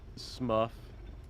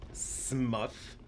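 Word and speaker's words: Smough: __ ] no Pronto just glasses it's actually pronounced smuff smuff I hate yeah apparently Smo is actually pronounced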